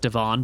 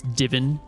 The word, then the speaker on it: Divin: at that time his name was pronounced Devon, but here we are in Eridon, so the pronunciation is a little different. So it's Divin here.